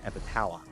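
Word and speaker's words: Epithalon: Now, it's spelled a little funky. It's e p i t h a l o n, but it's pronounced epitalon.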